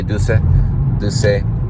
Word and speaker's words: Duse: That was Eleonora Duse. I think that's how they say it. Duse. Some say Duse.